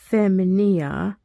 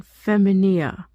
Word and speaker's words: femina: Aemilia et Delia et Sura sunt feminae, esne feminia Julia. Oh, that's a question. Esne feminia Julia? Non feminia. Femina. I'm mispronouncing that word.